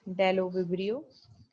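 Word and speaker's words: Bdellovibrio: of the member is the deloverio b is silent here right so it's dello vibrio and as you can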